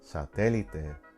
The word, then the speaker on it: satélite: Satélite, the rule would lead you to believe that without an accent, this word should be pronounced satélite. Second to the last syllable should have the stronger stress. But this word breaks the rule, so we place an accent on the vowel in the syllable where the rule is broken. Satélite.